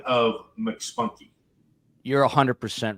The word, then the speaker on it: McSpunky: Yeah, it's McSpunky. How else would you pronounce it? Well, for a while I was pronouncing it MC Spunky because I don't know why.